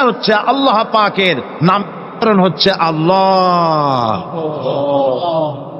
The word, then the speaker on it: আল্লাহ: আল্লাহ পাকের নাম হচ্ছে আল্লাহ মুখটা একটু গোল হয়ে যাবে বলেন আল্লাহ আল্লাহ আল্লাহ পৃথিবীতে বিভিন্ন জাতি